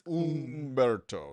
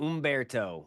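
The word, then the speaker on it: Humberto: Ombberto. So, it's not So, just so we can all get it clear, it's not Ombberto, it's Ombberto. Is that what you're telling me? It's Ombberto.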